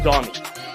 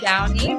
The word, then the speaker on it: Downey: Do you think it's Downey or Donnie? It's Downey, but It's Downey.